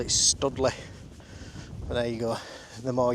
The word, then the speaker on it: Stoodley Pike: but we'll see so yeah here it is studle Pike now it is spelled St o d l e y stle I've always called it studly there you go the more you know where's